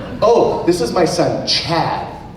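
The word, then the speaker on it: Choade: Oh, this is my son Chad, but it's C-H-O-A-D-E. The O and E are silent.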